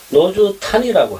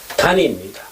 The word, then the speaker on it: 노주단: 탄 발음이 나올 수가 없어요. 한자로 읽을 적에. 단입니다. 그런데 왜 이렇게 탄자가 나왔을까? 요거는요, 아마 요 단자를 중국 현지음으로 읽을 적에는 탄입니다.